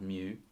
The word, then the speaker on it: mu: lowercase letter mu okay so pronounce mu like the word for the sound a cat makes and you're gonna write